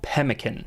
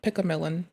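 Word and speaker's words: pemmican: So, I'm not supposed to call it pick a millillan because I've been mispronouncing this for like years right now. And I should probably severely myself cuz this is not pickmelon.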